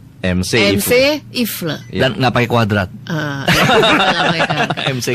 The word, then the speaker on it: Mc Ifle: Tadi saya pikir Mak gitu dibacanya. MC kan dibacanya gitu ya Pak William. Iya. Ternyata bacanya MC Ifle.